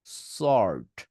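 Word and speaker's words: sword: আর ডি ওয়ার্ড পড়ছি বাট এক্ষেত্রে এস ও আর ডি কে সোয়ার্ড বলবেন না সর্ট অর্ড এটাকে এভাবে বলবেন অর্ড সর্ট সর্ট শেষ হলে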